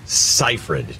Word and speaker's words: Seyfried: best it's amanda amanda's a first name cipher seifried is how you say her yup amanda seyfried this is telling me that all these actors